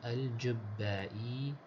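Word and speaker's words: al-Jubbāʾī: very beginning the name al-Jubbai bimadmumah. The first letter, the Jim, has a dhamma. وشدة موحدة, and the letter after the Jim has a shadda with a fatha.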